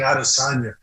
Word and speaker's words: Adesanya: I look forward to seeing all those fights, and I look forward to seeing Adesanya. Am I pronouncing his name properly?